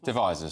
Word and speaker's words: Devizes: Chris in how do you pronounce it? Devizes, sorry, in Wiltshire.